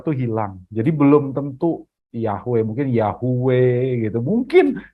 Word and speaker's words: Yahweh: juga enggak tahu sebetulnya nama Allah yang bener tuh bacanya Bagaimana ya para para ahli hanya bisa memperkirakan namanya yahwe tapi nggak ada yang pasti Bapak Ibu karena orang